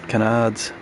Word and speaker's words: canard: Canards. When you're driving a canard, they're called a canard. Carbon canards. Rhymes with gonad.